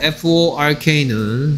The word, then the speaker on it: fork: F-O-R-K는 삼지창을 F-O-R-K, fork고요. 그래서 발음을 조심하라고 했어. 삼지창 주세요는 fork고요. 돼지고기 주세요는 pork죠. 됐습니까? fork, pork.